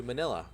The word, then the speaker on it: Manila: You're going to Manila, which rhymes with vanilla.